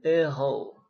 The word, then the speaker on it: héros: Oh iya, ini seperti dalam pengucapan bahasa Prancis, saya ulangi lagi, kalau huruf H itu nggak dibunyikan ya. Le héros, le héroïne, le haricot, buncis, le hors d'oeuvre.